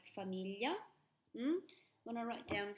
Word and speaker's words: famiglia: yeah so you've heard these in words like famiglia hmm when I write down communion so Commedia